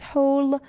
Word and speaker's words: whole: Whole, W is silent.